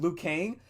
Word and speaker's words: Liu Kang: just want to make sure I'm getting the pronunciation. Yeah, Liu Kang, and you put them on the side to be ignored the entire time, and you focus on all the other characters.